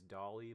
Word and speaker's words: DALL-E: around with open ai's Dolly models that dolly is spelled all caps d-a-l-l dot e uh like uh like